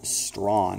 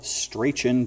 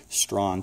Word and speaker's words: Strachan: van Hooser an Owen stron it's spelled straighten but it's actually strong - excellent theologians generally